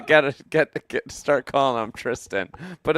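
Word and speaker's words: Thriston: Like, for once and for all, it's Tristan. Pronounce it right tonight. So we're here off the bat saying Thurston is T2 Thurston at 3 under.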